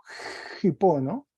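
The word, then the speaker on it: ὑπό: en este momento y este espíritu fuerte se dice como si fuese una J una J suave y tiene un acento agudo en la otra sílaba Entonces se leería hipono una J suave Hipo y que tiene dos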